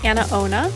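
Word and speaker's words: AnaOno: so this is by a company called a-n-a-o-n-o that's how you spell it so it's anna ona super comfortable there's no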